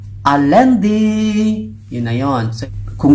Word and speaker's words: lundi: Lundi. Pero pag binasa nyo, lundi. Ang lundi mo naman, day. Ganyan, hindi. So, it is pronounced as lundi.